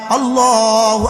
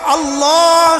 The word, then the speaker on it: আল্লাহ: এবার আল্লাহ শব্দের লামকে পুর করা লাগবে। এবার শেষের হা আছে, হাটা বাতাসে ছেড়ে দেয়া লাগবে।